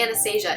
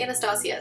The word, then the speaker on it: Anastasia: in the lightest shade I've been saying Anastasia it is actually pronounced Anastasia so pardon my mispronunciation blend out the cream